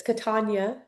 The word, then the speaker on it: Catania: A lot of people say Catania, but my grandmother was very, quick to correct people that it's Catania.